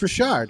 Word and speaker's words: Richard: It's not Richard, it's Richard, and I should know that. I'm from Maine.